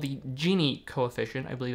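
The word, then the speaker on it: Gini: subjective thing there is a concept called the genie coefficient i believe it's spelled g-i-n-i which is just a way of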